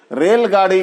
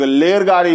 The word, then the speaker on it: रेलगाड़ी: रेलगाड़ी को कई लोग लेरगाड़ी बोल जाते हैं और र को लोग व भी बोल जाते हैं और ल भी बोल जाते हैं।